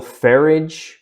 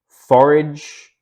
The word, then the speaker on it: Farage: you pronounce this Nigel farage forage I'm imagining it's farage because he's British and I know they say garage as Garrett garage so maybe um he did this